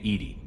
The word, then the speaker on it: EDI: airlock is a jar why are you named Edy Ed is the phonetic pronunciation of Ed that is an acronym for